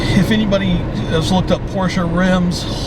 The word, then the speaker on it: Porsche: Porsche. Porsche. Gotta say it right.